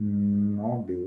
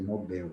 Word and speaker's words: Nobel: tem que ser catheter o móvel não não pode ser tem que ser Nobel mas como nós às